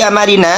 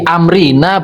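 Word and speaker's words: أمرنا: Ya, man ahdatsa fi amarina hadza ma laysa minhu fawraddun. Di Amrina bukan Amarina, Mas.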